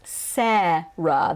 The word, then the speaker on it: Sarah: over the world so in american english it is serra the vowel is se and then the second vowel is uh so i think in